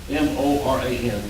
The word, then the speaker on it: Moran: it's a Spanish name with, you roll the R, I can't pronounce, but it's Moran, M-O-R-A-N, Moran.